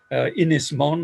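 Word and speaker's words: Ynys Môn: Ynys Mon, I'll give it the Welsh pronunciation as part of my apology.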